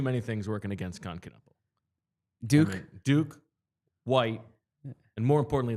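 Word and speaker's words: Knueppel: I believe it's Knipple. Yeah, Knibble. It rhymes with nipple.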